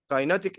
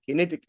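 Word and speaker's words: kinetic: فكده انا اديت الايه الماجنت كايناتيك انرجي، او معنى اصح كينيتيك انرجي، النطق الصحيح بتاعها.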